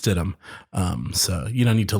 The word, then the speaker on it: Stidham: Stidham, like the meat, but it is pronounced Stidham.